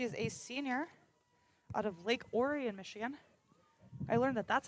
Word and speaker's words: Orion: She is a senior out of Lake Orion, Michigan.